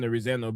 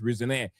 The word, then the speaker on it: Rosenior: Rosen Rosen Roseno, but reports saying that the real pronunciation is Rezaneire.